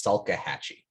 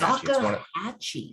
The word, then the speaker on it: Salkehatchie: But then it's Salkehatchie. Salkehatchie. It's Salkehatchie.